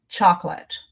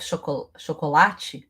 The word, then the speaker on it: chocolate: It's not I love chocolate. I love chocolate. I love chocolate. 6 syllables. I love chocolate. 4 syllables.